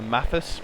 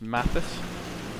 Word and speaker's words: Matthysse: By the way, Eric, uh my name is Matthysse, pronounced Matthysse. Um a loads of people get my name wrong, but it's fine.